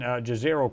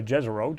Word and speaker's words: Jezero: Now that they're in Jezero crater, or Jezero, depending on how you want to pronounce it, now that they're saying,